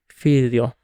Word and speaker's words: figlio: In Italian, there is some palatalization, like the sound, forgive my pronunciation ahead of time, ya, not present in the other 2 languages. An example is the word figlio.